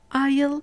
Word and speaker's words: isle: In these 3 words, the S is silent before L or LE.